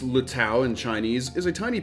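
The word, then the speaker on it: 綠島: So, Green Island, pronounced Luttow in Chinese, is a tiny piece of volcanic land found in the Pacific Ocean, roughly 33 km off the coast of Taiwan.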